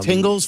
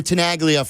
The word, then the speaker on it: Tenaglia: Mayor, is it Tenaglia? I think That's so. how you say it? Yeah. Mayor Tenaglia from Arlington Heights will join us in an hour.